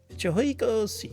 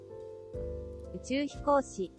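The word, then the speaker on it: 宇宙飛行士: Uchuhikoshi. Oof. I like second syllables tough. Yeah, that second syllable, because it's almost like two throat maneuvers in one.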